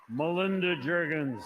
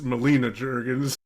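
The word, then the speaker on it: Melina Juergens: then he gets he gets the Winner's name wrong too Melinda Jurgens Mur it's Molina Jurgens so I had I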